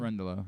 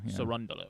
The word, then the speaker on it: Cerundolo: Cerundolo. Cerundolo.